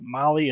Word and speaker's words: Mahle: And for all our podcast listeners, Molly is spelt Mahle.